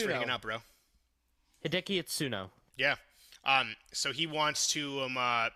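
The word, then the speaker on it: Hideaki Itsuno: Hideki Itsuno.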